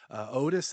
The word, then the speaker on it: Otus: Otis is the scientific name for an owl, and it's spelled OTUS, just like that.